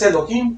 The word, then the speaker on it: Elohim: que dice dice Elohim Pero como se pronuncia es Elohim porque está en hebreo esta palabra elohimmer hermanas